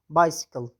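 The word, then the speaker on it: bicycle: لکه بایسیکل، بایسیکل ته وایي. څه ته وایي؟ بایسیکل. مخته ترې وای راغلی دی وروسته.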